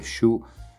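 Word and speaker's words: Sioux: lakota show in realtà si scrive su yoox ma si legge su sarebbe in realtà una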